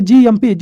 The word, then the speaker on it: cGMP: सी इसमें क्या होता है, साइलेंट रहता है, इसको हम पढ़ते हैं GMP।